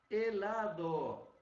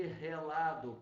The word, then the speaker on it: helado: Helado. Helado, com H mudo, nada de relado, por favor, tá? O sorvete é gelado para nós, mas não é relado em espanhol, tá?